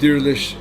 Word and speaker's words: Diriliş: Okay, so by now you guys know we're talking about how do you pronounce the series that you started? Diriliş, Ertuğrul.